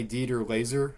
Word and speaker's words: Dieter Laser: I forgot his name, but played by Dieter Laser, I think is how you say his name.